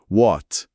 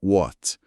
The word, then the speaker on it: What: What? O que ou qualcia? What? A instrução é W com som de U. Esquece o H e o T no final quase não fala.